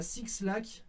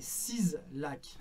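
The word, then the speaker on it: 6LACK: Alors, l'habit, c'est pas Six Lac, c'est 6 Lac.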